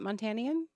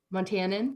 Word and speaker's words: Montanan: Every Montanian, is that how you say it? Montanian? Montanan. Montanan. We say Oregonian, so I was adding an extra letter in there.